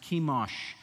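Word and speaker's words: Chemosh: their god was kimash c-h-e-m-o-s pronounced kimash and that was the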